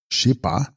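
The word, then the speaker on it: shes-pa: located in the heart text chespa pronounced shipa mind knower I.E the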